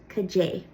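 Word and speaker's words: Cad é: So the Ulster version of what is Cajay, which literally means like what it.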